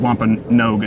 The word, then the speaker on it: Wampanoag: butcher the name, but the Wampanoag is how I think it. But someone else corrected me and said it was like Wampanoag, and I was like, oh crap, I've been saying it wrong.